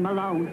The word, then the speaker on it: Malone: that one either was his name which my people pronounce Melone a by pronouncing it Italian would make it and me less Mick than Malone which is how his people pronounced it I was just